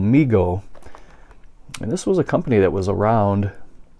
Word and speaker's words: Mego: And it looks like, it's pronounced MEGO.